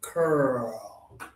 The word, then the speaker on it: curl: Curl.